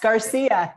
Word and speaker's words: Garcia: Do I pronounce it right? Yes, Garcia.